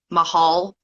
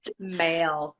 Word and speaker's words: Mahl: I've heard Male, Mahal. It's male.